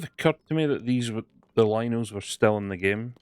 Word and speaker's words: Lynel: It's I pronounce it as Lino. It's Lynel.